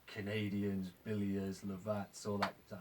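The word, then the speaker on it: Lovat: Like the first 60 pipes I made, like English, you know, loads of like Canadians, Billiers, Lavats, all that. Is that how you pronounce it? Love it. Lovets.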